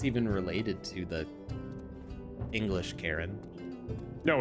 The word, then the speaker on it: Charon: actually it's actually pronounced karen yeah yeah people say charon because that's like phonetically if you look at it that's how it's spelled but i mean like